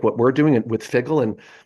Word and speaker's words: Phiggle: So taking that personal health agency and having organizations like what we're doing with Figgle, and Figgle is spelled PHIGGLE, and that PHI is intentional because the PHI and